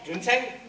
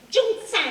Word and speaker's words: Junsang: Junseng? Non, prononcez mal. Junsang.